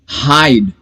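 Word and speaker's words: hide: हाइड, एच लिखा है, आई high D, okay, हाइड, सो ई लिखना है और ई साइलेंट रहेगा।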